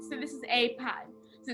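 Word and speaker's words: π: sounding then we have pi now pi is pronounced like p not pi let me have alpha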